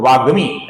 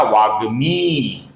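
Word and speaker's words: वाग्मी: वागमी का जो मी है दोस्तों ग म ये जो मी है ये दीर्घ है दोस्तों। इसका कुछ लोग वागमी ऐसा उच्चारण करते हैं जो कि गलत है।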